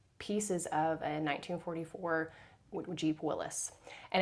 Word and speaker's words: Willys: And so with him working on Jeeps, he found a um pieces of a 1944 Jeep Willis. And it looks like Willys, but it's actually pronounced Willis.